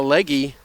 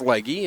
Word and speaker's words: Legge: And that will bring up Hannah Legge. Legge from Cowhead, Newfoundland Labrador. It's being pronounced leg on the in-house system, but I believe it's Legge, and if I am mispronouncing that, I do apologize.